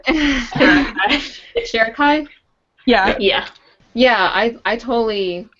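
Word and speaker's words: Sharakhai: Sharakai?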